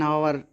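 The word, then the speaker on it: hour: कुछ शब्द ऐसे होते हैं जो कॉन्सोनेंट से शुरू होते हैं, लेकिन उसमें कॉन्सोनेंट्स साइलेंट रहता है। ऐसे शब्दों के साथ एन का प्रयोग होता है। जैसे एन आवर, N honest boy.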